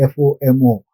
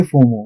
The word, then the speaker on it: FOMO: and that's why fomo we don't say f m o we say fomo what is foro it's